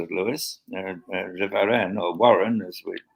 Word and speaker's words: Warren: Warren, pronounced Warren in English now. Warren being a French name, de Varenne, and he was, I